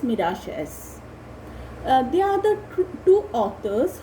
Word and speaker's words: Miralles: Garcia and Francis Miralles, but that's pronounced as Francis Miralles.